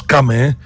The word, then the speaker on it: Cham: On a vu que Cham, si vous voulez, on prononce Cam.